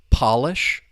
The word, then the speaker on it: Polish: Polish is talking about things related to the country, Poland, the people, the language. In this case, we're using it as an adjective talking about the furniture, the Polish furniture. But once again, the stress is on that first syllable.